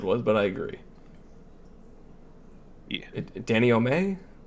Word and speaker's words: denouement: Danny O'May? I don't know if that's how it's pronounced. Like a slowing down, a sort of a Denouement? denouement. Yeah, that's what I meant to say. I think that's how you say it.